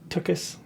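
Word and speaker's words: tuchus: use right like that's tokus is that how you say it yeah tokus yeah that's there's not an extra tea in there toiss no that's wrong tus tus yeah yeah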